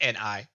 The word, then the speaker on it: Ni: is it I I have to see how it's spelled just to make sure the reference is right here NE okay it's ni like okay yeah the knights who say neat